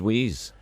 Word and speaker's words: Weiss: No, Wees. He pronounced it Wees.